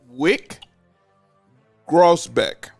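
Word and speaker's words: Wyc Grousbeck: gentlemen my next person and I want to pronounce his name properly it's Wick grossbeck man I'm glad you said that name he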